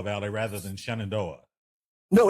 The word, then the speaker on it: Shenandoah: We're talking with Barry Lee Bowser in the Shenandoah Valley. Now, it is Shenandoah Valley rather than Shenandoah. No, it's Shenandoah. It is Shenandoah.